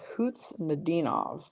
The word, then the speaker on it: Kuznetsov: Okay, Kuznetsov with the emphasis on the Dean. So there's no K pronunciation on that at all? Interesting.